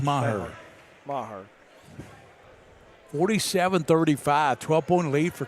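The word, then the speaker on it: Meagher: Even the PA announcer's calling Maher. It looks, it's spelled M-E-A-G-H-R. It looks like Meager, but it's pronounced Maher.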